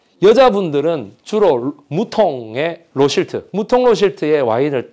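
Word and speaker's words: Rothschild: 무통 로실트, 로스차일드의 이 영국식 발음 로실트거든요. 로실트.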